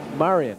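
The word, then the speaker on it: Marijan: say Marion I know it's Marion Marion Marion just in case you're wondering it's spelled m-a-r-i-j-a-n -j as in Joseph that's right so actually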